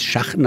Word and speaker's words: Schachten: über die alte Ortschaft Schachten muss man aber sagen das Schachen ausgesprochen weil es gibt da nur schachenhaus und die sind die schachtenhäuser und dann über